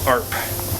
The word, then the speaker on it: ARP: Premium ARP. It's like harp without the H. Harp. That's how you say it, guys.